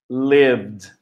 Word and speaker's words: lived: Loved, liked, liked, loved, lived. Então, tanto o lived quanto o loved, o som final é de D. E no liked, aqui, o som final é de T.